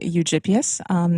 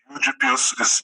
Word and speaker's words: Eugyppius: Eugyppius is also fine. Eugyppius would be sort of a more German pronunciation, but yeah, Eugyppius is fine. Americans say Eugyppius.